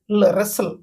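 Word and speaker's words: wrestle: পরিমায় race এটি race টিটা silent রেসল ওকে রেসল তো কুস্তি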